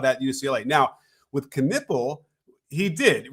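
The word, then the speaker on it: Knueppel: I wanted to talk about why people sleep on players like Con Knuppel and Scotty Barnes and Jalen Johnson, and then I see this thumbnail.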